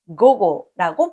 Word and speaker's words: 午後: 그리고 오후는 한자로 낮자에 뒤자를 쓰고 옹호 고고라고 발음합니다.